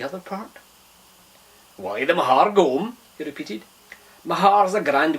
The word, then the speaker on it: gome: i'll throw it on target the word is gom g-o-m-e like home i have had enough ears